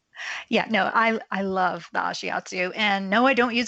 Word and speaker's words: ashiatsu: because you offer ashiatsu. Did I Yes, pronounce that you correctly?